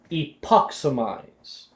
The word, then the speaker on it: Epoximize: The spell is pronounced Epoximize. Say it with me.